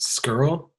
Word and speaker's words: Skrlj: that for us yeah it's gonna be pronounced skirl so SK RLJ the no vowels is usually what throws people off with that yeah I think I've